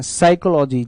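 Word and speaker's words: psychology: साइकोलॉजी, जिसमें P silent रहता है।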